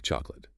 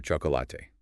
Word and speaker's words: chocolate: Let's take chocolate. You often hear chocolate, 3 syllables. But the natural flow is just 2. Chocolate. Chocolate, right. We reduce that middle vowel almost to nothing.